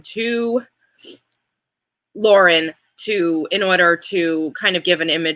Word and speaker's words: Lauren: and so that is and it is not pronounced Lauren it is Lauren unfortunately I loved it I would like to